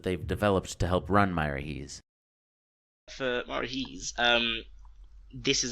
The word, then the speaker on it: Miraheze: farm that I was surprised to learn is pronounced Myra Hees I run my own